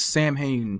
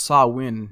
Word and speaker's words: Samhain: So if we say this in American English, it's Samhain, but it's a Celtic festival, and it's pronounced Samhain.